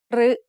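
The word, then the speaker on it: ฤ: รึ is usually pronounced as a combination of รอเรือ and สระอึ However, there are some words in which it is pronounced as a combination of รอเรือ and สระอิ instead.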